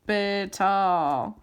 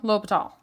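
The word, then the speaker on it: L'Hôpital: If you have an indeterminate form, la hope L'Hopital. I can hear Emily yelling at me now for pronouncing that. It's the hospital without the S. If you have 0 over 0, L'Hopital, 100% of the time.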